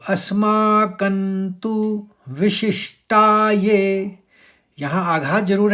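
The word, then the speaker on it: अस्माकं तु: बोला जाना है इसको और कण का जो अनुस्वार है जो कण का बिंदा है वो न बोला गया वो आप समझ गए होंगे किस लिए बोला गया कि त थ द ध न में खत्म हुआ था त वाले व्यंजन तो न इस्तेमाल करना है तो अस्माकंतु विशिष्टाय यहां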